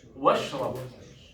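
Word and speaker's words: واشرب: Washrab. We just agreed it's hamzat wasl. If we add something, we don't pronounce the alif, the hamza.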